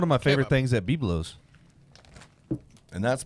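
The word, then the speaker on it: Byblos: That's one of my favorite things at Biblos. And that's pronounced biblos.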